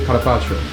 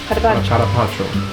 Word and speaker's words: carpaccio: 意大利文发音是 carpaccio。 carpaccio。